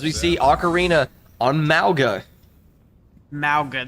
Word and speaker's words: Mauga: Mauga, that's how you say it.